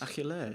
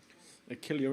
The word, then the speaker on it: Achillea: Achillea is how you pronounce our last name in Greek. Achillea in English.